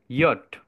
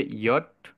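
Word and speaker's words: Jot: হিসাবে চিনি, but Germany এটা হবে ইয়ট। এটার উচ্চারণ হবে ইয়ট। যেমন হচ্ছে গিয়ে ইউঙে। তো ইউঙে অর্থ হচ্ছে বালক। এবং এই ইয়ট বা ইয়, এটাও অনেকটা উচ্চারণ আমাদের থাকবে ওয়াই এর মতো।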